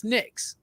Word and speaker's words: Nyx: You pronounce this Nyx.